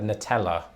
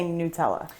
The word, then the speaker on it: Nutella: think i've always said nutella yeah that sounds right and i say nutella which true to form when it comes to american english is a bit closer to the italian do they say it